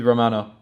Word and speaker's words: Romana: He leaves with Romana. I keep saying her name wrong.